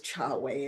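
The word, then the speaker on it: Chahway: And I mostly refer to it as Chawei. It's like a pre-title. And the book is Chawe. Chawei is spelled C H A H W A Y.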